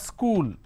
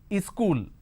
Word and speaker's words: school: here so we have school correct now people in northern india they add another vowel sound in front and that is e sound and they pronounce this as ischool the moment you add